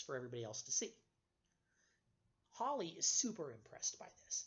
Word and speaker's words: Halley: heard it mispronounced as Hallie or Halley both of those are the wrong pronunciation it's supposed to be Holley he is of course